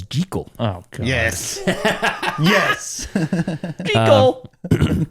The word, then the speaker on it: Jekyll: This is the only version where Jekyll's name is pronounced correctly as Gee-Kull.